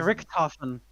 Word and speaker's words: Richthofen: Do you not know how to pronounce German? No, I don't. German name, 1995. Richthofen.